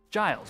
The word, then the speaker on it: Giles: Giles with a G with a J sound.